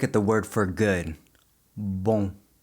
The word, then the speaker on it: bom: Let's take a look at the word for good, bom. Bom. Notice how my lips don't touch at the end.